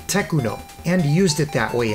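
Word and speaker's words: Tecno: So to counter that, they started removing the H, making it more obvious that it's pronounced Techuno and used it that way in most company ads, box art, and CDs.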